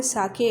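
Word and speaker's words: sake: एस ए सा is pronounce like F ए फा इन father. फा जैसे प्रोनाउंस होगा फादर में, वैसे ही सा प्रोनाउंस होगा। एंड के rhymes with way. वे, WAY, वे को जैसे प्रोनाउंस करते हैं के को ऐसे प्रोनाउंस करना है। सो इसका प्रोनाउंसिएशन होगा साके।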